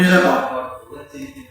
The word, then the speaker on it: Nineveh: Gilgamesh, the Syrian king Ashur-bani, actually known as Nineveh. It's actually pronounced Nineveh.